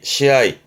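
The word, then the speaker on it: 試合: 우리말로 시합이니까 합격 그러면 앞장에서 했지만 고가 그러면 시고라고 해야 되는데 그렇죠. 우리는 시합이라고 하는데 일본 친구들은 합 서로 서로 겨운다. 서로 겨운다는 의미에서 앞에서는 시니까 발음은 로하고 합발음은 아우에서 아이 발음 나와서 시아이 우리는 시합이라고 읽지만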